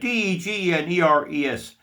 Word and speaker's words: DeGeneres: Now, the next one is Ellen DeGeneres. Now, I'll spell it DEGENERES. I pronounce it Ellen DeGeneres.